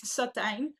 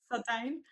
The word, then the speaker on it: Satijn: And then my last name is it's a little bit tricky. It's Sottine, actually. Sottine.